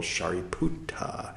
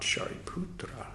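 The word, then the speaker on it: Sāriputta: shuta a character okay so that's the venerable shuta now if you're wondering why is he pronouncing shariputra so strangely it's because paully originally it was dhama not daughter m originally it was shuta not shariputra Sanskrit poly a little different okay continuing um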